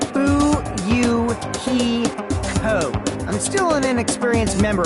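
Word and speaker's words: Fuyuhiko: last name is my first name is pronounced boo you ki ho I'm still an inexperienced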